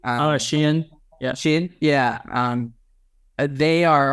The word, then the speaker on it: Shein: Now what we're seeing is that like Temu, and was it Shine? I'm pronouncing that correctly. Shein.